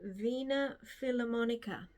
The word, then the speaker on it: Wiener Philharmoniker: This was filmed and played in 2010 by the Wiener Philharmoniker, which is the Vienna Philharmonic Orchestra. I think in Austria they pronounce their W's as V, so I think that's how I've pronounced it.